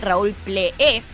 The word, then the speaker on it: Pleé: ¿Cómo se pronuncia el apellido de Raúl? Ple. Raúl Ple. Raúl Ple, exactamente. Rarísimo. Tiene una E de más. Tiene una E de más y un acento ahí que es la única, ¿cómo se llama?